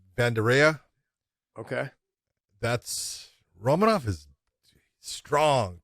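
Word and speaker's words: Vanderaa: uh i always say it wrong but it's bandara okay that's romanov is strong powerful he hasn't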